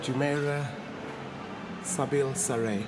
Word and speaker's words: Jumeirah Zabeel Saray: Jumeirah Zabeel Saray.